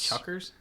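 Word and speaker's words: chukkers: way they spell that c h u k k e RS Chuckers Chuckers Chuckers I don't like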